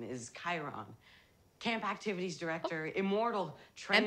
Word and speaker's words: Chiron: Bruner's real name is Chiron. Camp Activities Director, immortal trainer emphasis of on heroes. The O? He's been saying it wrong my I'll whole life. I'll take it from here. Chiron.